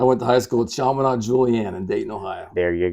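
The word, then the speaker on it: Chaminade Julienne: let you do that well how do you pronounce the the name of the high school I went to high school at sham Julian in Dayton Ohio there you go I'm with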